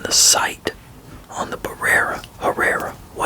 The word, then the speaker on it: Herrera: if I can yeah it could be barera but I always pronounce it as the B is silent so I I pronounce it uh Herrera so I think that's how I usually pronounce it a it I don't